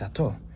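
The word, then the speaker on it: אתה: Ata means you. Why do you say ata instead of ato? In Ashkenazi Hebrew, it is ato. But that vowel, the kamatz vowel, in Sephardic Hebrew is ah.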